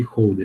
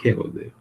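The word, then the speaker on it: Hölder: Bom, o primeiro é a desigualdade de Holder, ou Helder, dependendo da pronúncia que você faz.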